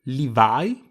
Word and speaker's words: Levi: Levi, per qualche oscuro motivo divenuto Reveil nell'adattamento italiano, va pronunciato, appunto, Levi per due motivi. Innanzitutto il nome è scritto in katakana, quindi fa capo a una parola straniera per i giapponesi, e quando si tratta